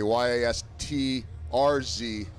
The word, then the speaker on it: Yastrzemski: And I think I know I only need to say it and not spell it, but I worked on it yesterday. Yastrzemski.